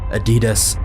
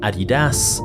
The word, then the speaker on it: Adidas: Depending on where you're from, you may pronounce it Adidas, or personally, I've always heard Adidas.